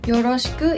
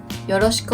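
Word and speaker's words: よろしく: you know the points yoroshiku is pronounced so that the ku the ku part is slightly higher it's more natural to not pronounce the last u part so listen carefully yoroshiku onegaishimasu next word is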